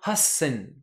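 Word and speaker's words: 八千: à prononcer et enfin 8000 Hatti plus saine devient Hassen là on a la petite pause ok alors je donne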